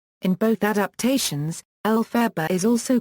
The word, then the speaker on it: Elphaba: Maguire formulated the name Elphaba from the phonetic pronunciation of Baum's initials L.F.B. In both adaptations, Elphaba is also called by